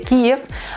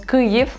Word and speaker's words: Kyiv: En ucraniano se escribe Kyiv, en ruso se dice Kiev, pero bueno, en todos lados ahora la transliteración es del ucraniano, por eso decimos Kyiv.